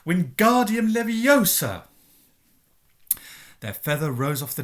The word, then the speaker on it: Wingardium Leviosa: having much more luck Wingardium Leviosa he shouted waving his long arms like a windmill you're saying it wrong Harry hurt my knee snap its Wingardium Leviosa make the GAR nice and long you do it then